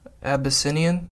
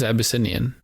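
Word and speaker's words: Abyssinian: I am killing the pronunciation game in this. You really are. It is Abbyinian.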